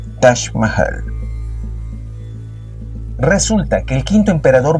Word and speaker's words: Taj Mahal: más hermoso del mundo, el Taj Mahal, o como se pronuncia en hindi, Taj Mahal.